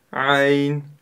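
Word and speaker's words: عين: Буква Айн – мягкая горловая буква. А буква Гайн – твердая горловая. И при ее произношении мы чувствуем характерный хрип. Х, Гайн, Гайн. А у буквы Айн она отсутствует.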